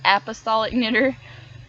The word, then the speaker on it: Apostolic Knitter: It was kind of funny, they pronounced my name wrong. It is Apostolic Knitter.